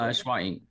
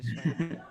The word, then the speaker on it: SHWAINC: Am I saying it right? Is it Schwa Inc. or is it Shwainc? What is it? Schwainc. Schwa Inc. All right, I figured Yeah. it was. I don't know why I said Shwainc.